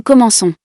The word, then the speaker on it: commençons: Here you can see that we use the C cedilla, because after it there is an O. This changes the pronunciation because without C cedilla, we would pronounce this word.